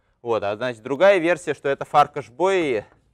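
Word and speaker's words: Bolyai: вот мне обясни что традиционное произношение баль вообще совершенно неправильно с точки зрения венгерского языка что мало того что там нету L Оно ещё и ударение на первый слог вот правильно вот так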